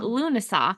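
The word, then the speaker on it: Lughnasadh: say it wow Lou we're finding it Luna lunasa Luna Luna that's not what I was gonna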